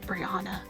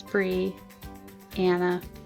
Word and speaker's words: Brianna: says my name brianna it's not brianna my name is bree anna about the most southern way you can say brianna that's how you pronounce my name pretty straightforward but that's